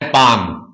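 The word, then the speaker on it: palm: जिस प्रकार पाम, इसको पाम बोल रहे हैं, इसमें पी ए एल आ रहा है और एम भी आ रहा है, एल साइलेंट है, एल बोलते नहीं हम, हमें पी और एम सुनाई दे रहा पाम।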